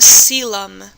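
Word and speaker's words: coelom: And it's called a cylum. That's how you pronounce that word.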